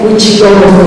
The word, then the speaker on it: Huitzilopochtli: Y más o menos lo podemos pronunciar, a lo mejor aguantando no se le pronuncia muy mal, pero de Huitzilopochtli a Huitzilopochtli, Huitzilopochtli, como dice Cortés, pues hay bastante distancia.